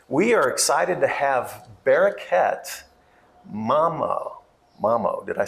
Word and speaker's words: Bereket Mamo: We are excited to have Bereket, Mamo. Did I say it right? Yes. Say it for us. You can say Bereket Mamo.